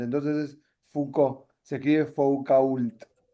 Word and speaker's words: Foucault: Eh, bueno, no es fouol, es fou. En francés las últimas letras, si no hay una vocal al final no se pronuncian, ¿entiendes? Por ejemplo, si hay no pronuncian la última letra, si es vocal pronuncian la consonante. Si no hay vocal, no pronuncian esa consonante.